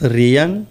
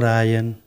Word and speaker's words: Rian: But anyway, yeah, they couldn't pronounce Rian, you know, like in Rian. So I had to settle for Ryan.